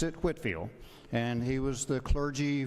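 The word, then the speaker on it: Whitefield: And we pronounce it as he pronounced it, Whitfield.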